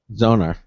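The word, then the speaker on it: Xonar: an integrated asus uh it's spelled x-o-n-a-r how would you pronounce that craig zoner thank you sound card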